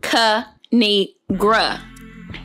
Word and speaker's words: Kinigra: me tell y'all a thing of three it's pronounced kanigra now subscribe oh I crack myself up thanks